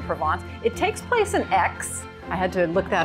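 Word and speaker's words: Aix: It takes place in X. I had to look that up how to pronounce that. X, although the characters say it many, many times.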